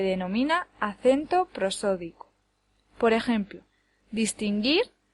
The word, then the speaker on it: distinguir: Por ejemplo, distinguir lleva el acento en la última sílaba. Dis, tin, gir. No puede llevarlo en ninguna de las otras dos porque daría lugar a palabras que no existen.